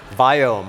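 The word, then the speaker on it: Viome: hears very interesting part Brown guys cannot pronounce the word v as in Victor biome I'll translate for you guess what you do you start a company that you can pronounce right so having said that that's weird in Victor I ome but that's not important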